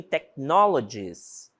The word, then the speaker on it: technologies: silencioso por exemplo em Technologies Technologies essa palavrinha esse h não tem som certo tecnologies ele tá